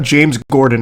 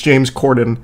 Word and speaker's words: James Corden: His name's not James Gordon, it's James Corden.